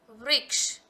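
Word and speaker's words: वृक्ष: For example, v plus re, vri, ka, sh, ksha. Vriksh.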